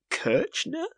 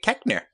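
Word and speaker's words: Koechner: rehearsing Afternoon Delight with Steve Carell and David kirner sure Ben it's pronounced David keker as Jen Fisher on the office latest podcast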